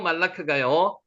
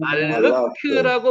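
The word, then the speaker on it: מלאך: 말르크라고 발음을 해도 되고 실제로 이거를 정확하게 현대에는 이렇게 하는데 옛날엔 그렇게 하지 않았습니다. 그래서 요거대로 읽으면요 말르느아 아아크라고 읽는게 가능합니다. 근데 요거를 보통 읽을 때는 말라크라고 그랬습니다.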